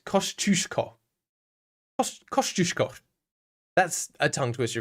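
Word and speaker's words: Kosciuszko: Uh, by the way, Wiki says a better pronunciation for that mountain would be Kosush. Yeah, maybe that is correct. Kushko Kushko.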